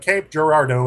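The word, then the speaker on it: Cape Girardeau: uh creative interpretations but Cape Gerardo is how we pronounce it here in Missouri good good good did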